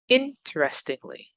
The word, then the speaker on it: interestingly: Interestingly, interestingly, up on the first.